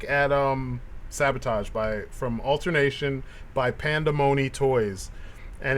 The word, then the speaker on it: Pandamony: And yeah, that was our look at Sabotage from Alternation by Pandamony Toys, and it's spelled Panda and then money, right?